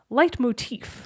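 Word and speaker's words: leitmotif: for the longest time I thought he was saying the words light like his in light that comes down from the Sun and motive wrong on both accounts it is one word it is spelled le i t mo TI f light motif okay not motive so light motif is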